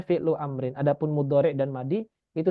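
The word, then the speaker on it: فعل أمر: Iya, Oh, karena nanti takut dikhawatirkan fi'lun amrun. Nggak bisa, karena di sini adalah masdar dan masdar nggak bisa jadi sifat. Maka dibacanya fi'lu amrin.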